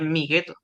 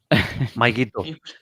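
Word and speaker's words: Mygeeto: Estaba pensando en el planeta de Star Wars, pero ese no es porque es mi gueto. Maikito. Es Maikito, no mi gueto.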